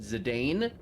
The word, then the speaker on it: Zidane: character's name I I I pronounce it zidane with a long a um but I've heard